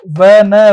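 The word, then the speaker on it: one: व न वन व का साउंड आ रहा है क्योंकि वह का साउंड आ रहा है इसलिए हम क्या लगा देंगे ए का यूज़ कर रहे हैं।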